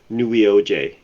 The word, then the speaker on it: Neweoj: It's not pronounceable because it's not a word. Okay. All right. Cool. So we'll get into that. So I'm gonna call you New. Welcome to the It's the. just it's just easier if people call me new. Hmm, I've heard people try to pronounce it, and probably the best way to pronounce it is Neweoj.